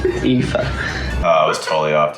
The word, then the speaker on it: Aoife: Is it Ophi? Try again. Eoffy? No. Ew? No. Ow. Ow. What is it? Aoife.